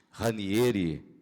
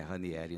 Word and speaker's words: Ranieri: Eu pronunciei ranieri, geralmente pronunciam ranieri, mas um dia, numa entrevista que eu fazia com a irmã do presidente, saudosa dona Roma, ela me instruiu quanto à verdadeira pronúncia do nome, um nome italiano. É Raniere mesmo, não é Ranielli não.